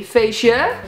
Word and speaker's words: feestje: Party, feest, but you can also say feestje. You don't really pronounce the T.